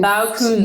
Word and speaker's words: Baukunst: And we're going to get into greater detail, of course, around Baukunst. I want to make sure I'm saying it right. Is that Baukunst? Baukunst.